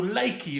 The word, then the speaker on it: Likee: So Likey, it's spelled L-I-K-E-E.